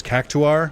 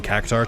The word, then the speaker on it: Cactuar: sorry caar photo thing they did pronounce it as cactuar which like I know in my heart is the correct way to pronounce or to pronounce it I just kind of uh reject it I kind of just go yeah I'm going to say it wrong uh cuz I've just been saying kakar too long so I can't say